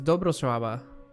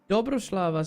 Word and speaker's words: Dobrosława: That weird I thing is a W. Okay. Oh, dude, how do you pronounce the W then? Oh, I see. So maybe it's Dobrosława. Oh, how weird that is. Dobrosława. That doesn't sound right to me. Dobroslava sounds better.